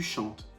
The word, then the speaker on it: chantes: premier groupe je chante tu chantes attention ne prononce pas le s jamais tu chantes il elle chante pareil